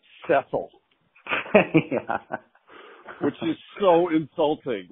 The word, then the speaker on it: Cecil: He goes, Cecil? She says, it's pronounced Cecil.